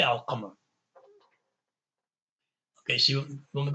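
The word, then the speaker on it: القمر: a sun letter, you would know when you see it to say ashamsu. Even if there wasn't, a shadda there, you say ashamsu. And even without qamar, if there was no sukoon there put there for us conveniently, because we know that the qaf is a moon letter, we'll say al qamar.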